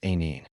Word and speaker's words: Anil: My name is Anil, pronounced Aneen.